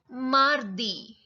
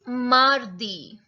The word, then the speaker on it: mardi: So here you are going to learn their pronunciations in the French language. So Monday is lundi. It's lundi. Tuesday, mardi. It's mardi.